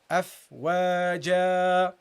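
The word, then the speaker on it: أفواجا: You make the second one the same length as the first one. Afwaja. Okay, why? Because that's an alif and this is an alif. You cannot pronounce this alif longer than this one. Okay, you have to treat them equally.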